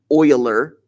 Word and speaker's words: Euler: path or an euler circuit and yes i'm pronouncing that euler because that's how it's pronounced if you were